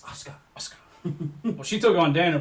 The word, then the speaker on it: Asuka: Her name is now Asuka. Asuka. No, it's Used to be. Asuka. Asuka. Oscar. As Yeah. William He is Regal would silent. have you know, it's Asuka.